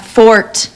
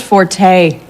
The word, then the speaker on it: forte: nothing it's just that it's not Fort it's pronounced Forte oh you know actually that's a common misconception you know Forte is a musical term meaning loud from the Italian Fort is derived from the French really you couldn't look